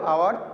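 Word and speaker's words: hour: এখানেও অনুচ্চারিত এইচ, যদি এইচ আমরা বাদ দিই তাহলেও আওয়ার উচ্চারণ হয়, আর যেটা অনুচ্চারিত এইচের বেলা এন বসবে, এন আওয়ার।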